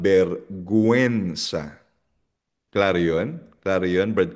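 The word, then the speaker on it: vergüenza: Kasi pag hindi mo nilagyan ng dalawang tuldok or dieresis sa letter U, ang basa diyan bergensa which is mali. Dapat berguensa.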